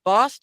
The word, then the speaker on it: Bost: and he's running for congress against um Mike Bost is that how you say it that is